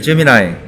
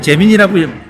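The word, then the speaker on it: Gemini: 구글, 뭐 코파일럿과 이제 제미나이. 우린 제민이라고 발음하는 게 더 편한데, 네. 이 친구들은 이제 제미나이라고 얘기를 하고 있더라고요.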